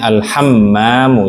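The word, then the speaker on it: الحمام: E tasdid. Alhammam. I bacanya alhammamu.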